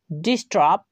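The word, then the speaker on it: disturb: ডিস্টার্ব, যার অর্থ হচ্ছে বিরক্ত করা। এখানেও প্রত্যেকটি ওয়ার্ডে এস এর পরে টি ইউ রয়েছে, তাই আমরা টি ইউ এর উচ্চারণ চ এর মতো না করে ট এর মতো করছি।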